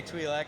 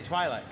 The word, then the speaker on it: Twi'lek: which, but I said in the Southern Hemisphere, they say Twi'lek, and in the Northern Hemisphere, they say Twi'lek.